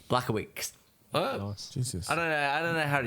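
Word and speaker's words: Błachowicz: Blachowski? Blachowicz. Oh, nice. Jesus. I don't know how to pronounce his name.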